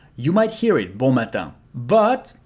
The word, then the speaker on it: matin: Matin. Matin. So I and N together becomes un. So here we pronounce everything matin.